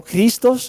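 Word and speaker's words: Χριστός: vale la palabra Cristo proviene de la una palabra griega que significa que se pronuncia algo así muy parecido como cristos no que a su vez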